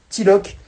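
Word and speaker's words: Tilook: Donc n'hésitez pas à rejoindre la chaîne T-I-L-O-O-K, T-I-L-2-O-K, Tilok ou Tilouk. Enfin, moi je prononce Tilok, mais bref.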